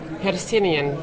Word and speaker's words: Hercynian: How do you pronounce it? Hercynian Distilling.